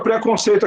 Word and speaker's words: preconceito: Então, o mais forte é a penúltima sílaba, sei. Tá? E o pré é subtônica.